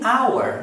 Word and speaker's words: hour: Agora, uma hora é an hour, mas hora se escreve H-O-U-R. Tem um H, mas eu não leio, então eu não conto e eu digo an hour.